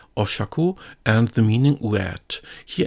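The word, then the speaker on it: 赤: This has the pronunciation Aka, Siki, or Shaku, and the meaning red.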